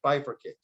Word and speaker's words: bifurcate: Bifurcate for a CPA. Bifurcate. It's 3 syllables.